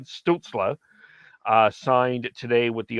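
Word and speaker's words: Stützle: week uh and Tim stilta we we've talked about that and I as I missed I mispronounce it it's Tim stutzler uh signed today with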